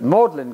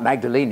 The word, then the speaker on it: Magdalen: Worcester British people are very inconsistent with their pronunciation Magdalene is modern college my uncle's at maudlin College Oxford not Magdalene II please another morning and so on so